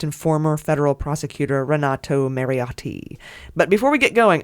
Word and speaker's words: Mariotti: I say that because it's very Italian oh yeah pronouncing I could say Renato Mary audio but I'm like Renato Marriott t-those T is hard not often you get